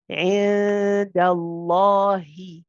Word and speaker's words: عند الله: Remember, if the letter before has a fatha or a dhamma, then the lams will be heavy. So in this case, we will be pronouncing both lams heavy. عند الله عند الله عند الله.